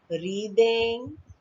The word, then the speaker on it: wreathing: Wreathing, W is silent, so it is wreathing.